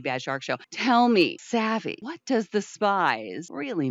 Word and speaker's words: Savvy: And now, am I saying that correctly? Is it Savi? It's pronounced Savvy.